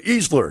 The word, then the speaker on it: Easler: the direction wrong and I got her name wrong when I first introduced you I just have an employee i easterly it just hit me as came out of my mouth so Easler to be person to be